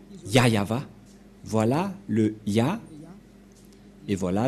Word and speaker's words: Yahvah: voit rien et donc c'est bien la vraie prononciation de son nom yayava voilà le ya et